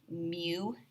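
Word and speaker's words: μ: W but it's a cursive you and that's pronounced mu it's kind of a weird thing but that's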